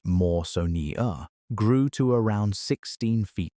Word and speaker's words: Mawsonia: Cretaceous coelacanths in the Kem Kem, mostly belonging to the giant genus Mawsonia, pronounced Maw-so-nee-a, grew to around 16 ft long.